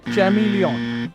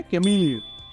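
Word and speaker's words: chameleon: ऐसे ही नेक्स्ट है, इसको कुछ लोग बोलते हैं चैमिलियन, चैमिलियन, बट ये क्या है? कैमिलियन। गिरगिट को बोलते हैं कैमिलियन, राइट?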